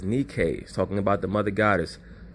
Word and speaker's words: Nike: three options bounced around Nike Brothers please understand that the real pronunciation of that word is Nikkei talking about the mother